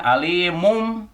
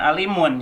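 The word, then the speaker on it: عَلِيمٌ: apa satu tebak udah jadi bacanya alimum alimum bukan Alimun ya itu cirinya iqlab Alimun B mangke Nuh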